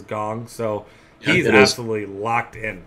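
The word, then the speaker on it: Kang: believe it's called now I saw it pronounced as gong so he's absolutely locked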